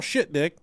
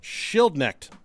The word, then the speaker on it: Schildknecht: Colonel Shitdick, is I pronounce that right? I think so. Schildknecht. Schildknecht. Schildknecht was the owner and ringmaster.